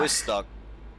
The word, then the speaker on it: Białystok: Białystok. Yeah, thank you. Thank you for the pronunciation.